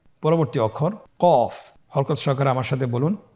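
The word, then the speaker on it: ق: ক আবার বলুন কু এ হরফটি কিন্তু আপনার মোটা অক্ষর মোটা হরফ বলার সময় উচ্চারণ করার সময় অবশ্যই মোটা করে পড়তে হবে তাহলে আগের অক্ষরটি আমরা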